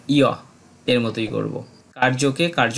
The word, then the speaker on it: কার্য: করি এরপর থেকে আমরা অন্তস্থ জ এর সঠিক উচ্চারণটা ইয় এর মতই করব কার্যকে কার্য না বলে বলবো কারিয় আমরা যুজুৎসব না